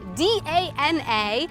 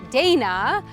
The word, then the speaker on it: Dana: My heritage comes from the Czech Republic, which why my name, for example, is spelled D-A-N-A, but it is pronounced Dana and not like the American "Dayna."